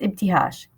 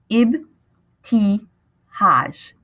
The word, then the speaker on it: Ibtihaj: It's Ibtihaj. Ibtihaj. I said each syllable as slowly as possible. It's pronounced just like it's written.